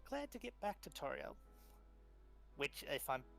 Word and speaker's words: Toril: Toril. As long as I'm pronouncing it right. You're back. I gotta go grab food. Toril.